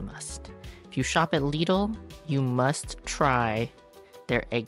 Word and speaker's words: Lidl: Wagman next up is leadle I think is how it's pronounced myle always has a